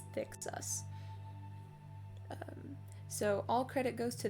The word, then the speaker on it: THCSCUS: I just pronounce it as Thicksus.